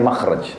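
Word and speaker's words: مخرج: Bahasa Arabnya itu mim, kha, ra, jim. Bacanya makhraj.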